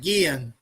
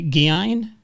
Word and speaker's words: Gein: I'm talking about Ed Gein.